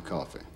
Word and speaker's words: Coffey: Your name is John Coffey. Yes, sir, boss. Like to drink, only not spelled the same.